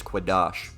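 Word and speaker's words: קדוש: Kadosh. Kadosh. And the correct pronunciation of that Second is entry. Quadash. Kadosh. We don't need the second entry. The correct pronunciation is Quadash.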